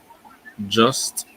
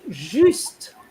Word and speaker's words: juste: just, Is juste, not just. Just is like English, isn't it? just, Juste. Okay, so here again, you have a U. The U in French is U, so it has to be as close to the U as possible. You can't say just, otherwise you're into the English sound system.